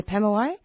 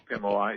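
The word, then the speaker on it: Pemulwuy: let me see if I've got the correct pronunciation here. Is it PM P u L Pemway? Yeah. Pemway. Pemway.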